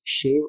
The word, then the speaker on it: show: अंतर मालूम होना चाहिए, शेव और सेव का प्रोनाउंसिएशन कैसे करते हैं। अगला जो ग्रुप है वो है SHOW, SO और SOW। तो SHOW को हम प्रोनाउंस करते हैं शो, श के साथ ओ।